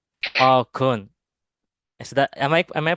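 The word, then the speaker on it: អរគុណ: We say Okun. Oh, kun. Is that am I pronouncing it correctly?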